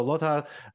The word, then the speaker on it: Lothar: and by the way congratulations for pronouncing my name correctly in German so as you can